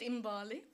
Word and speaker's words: Mbali: Now, in terms of Mbali, and I'm going to pronounce it on 2 ways, the ways that the VC prefers it Mbali.